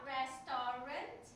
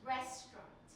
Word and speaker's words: restaurant: say restaurant okay it's not restaurant it's restaurant okay it's restaurant so this is wrong rest t r a u n t restaurant that's how you would say that word okay spelling it